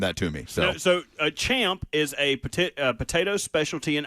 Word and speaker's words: champ: So the main course for Rory, Wagyu filet or seared salmon, you have the option, with traditional Irish chomp, which CHAMP would be pronounced champ, but I'm sure I'm saying that.